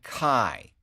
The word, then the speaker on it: Kai: guy on the crew sky named Kai which rhymes with die which I think is